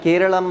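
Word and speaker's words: കേരളം: original pronunciation ಇನ್ Malayalam so ಮಲಯಾಳಂನಲ್ಲಿ ಸೋ ಕೇರಳಂ ಅಂತ ಅದನ್ನ ಉಚ್ಚಾರಣೆ ಮಾಡ್ತಾರೆ ಬಟ್ ನಾವು ಮಾತಾಡ್ತಕ್ಕಂತದ್ದು ಕೇರಳ ಅಂತ ಹೇಳ್ತೇವೆ ಸೊ ಅವರ ಮಾತೃಭಾಷೆ ಆಗಿರತಕ್ಕಂತ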